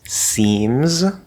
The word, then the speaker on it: seems: end of a word for example seems starts with an s sound but that second s is a z sound it is not seems he seems interesting he